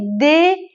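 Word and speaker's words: deux: املاشم دقت کنید ببینید د بعدش چی میاد ا پس میشه د خیلیا دیدم که ما ایرانیا البته چون شبیه دو خودمونه میگیم دو ولی دو اشتباهه تلفظ صحیح و درستش د عدد سه تخوا تخوا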